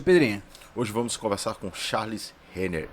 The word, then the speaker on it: Charles Renner: Hoje vamos conversar com Charles Renner. É assim, como que se pronuncia teu nome? Eu falo certo? É isso mesmo, Charles Renner.